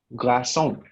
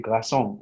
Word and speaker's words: glaçon: Your word is glaçon.